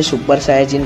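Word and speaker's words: スーパーサイヤ人: बता दूं कि यार सुपर सैयन को जैपनीज लैंग्वेज में सुपर सायाजिन कहा जाता है।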